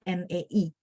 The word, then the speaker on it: 那: 那个 bukan NA, tapi NAE.